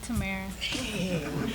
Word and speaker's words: Tamera: I said it right? No, Tamera. Tamera.